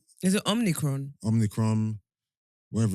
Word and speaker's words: Omicron: Omicron, whatever it's blood.